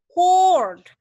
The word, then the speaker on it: cord: Jadi code ini bacanya? Cord. Lebih panjang dan lebih bundar.